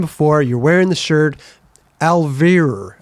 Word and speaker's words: Alvira: Alfeer. Alfir. Yeah. Alvir. Well, you pronounce the V properly as a Dutch person. Right. Proper Dutch V.